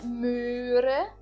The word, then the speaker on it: Möhre: aí é a palavra Möhre. Möhre. Então eu coloquei em azul a parte que nós enfatizamos na palavra Möhre. Eu novamente não pronuncio o H, mas prolongo o O com o trema, certo?